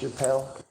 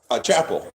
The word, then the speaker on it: Chapel: Is it pronounced Chappelle? Chapel. It is Chapel.